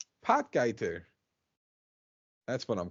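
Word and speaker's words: Potgieter: his name it is but poy is not how you pronounce it pot guer that's what I'm call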